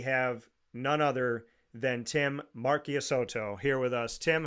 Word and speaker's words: Marchisotto: and that is Tim Marchisotto, is how you say it in Italian, folks, just like Tortora. So you know it as Marchisotto for the Americanized version of it.